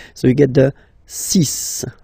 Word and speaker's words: six: And be careful here, because even if it's ending with this x, well, you'll have to pronounce it like s, s, okay? So you get the six pronunciation.